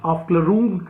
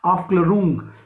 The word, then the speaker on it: Aufklärung: In the same way, this German term Aufklärung, write down, Aufklärung, we pronounce it Aufklärung, we can also pronounce it Aufklärung, like Bildungsroman in the same fashion.